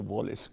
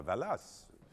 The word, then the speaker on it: Wallace: So next time you go to the Wallace collection, remember to pronounce it properly. La Valas.